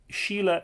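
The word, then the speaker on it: Síle: very well said Jack Sheila that's sh e ela or Sheila in Irish s I father L e means femininity but it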